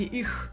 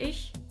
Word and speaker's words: ich: And if you still say "ish" or "ih" instead of "ich" for yourself.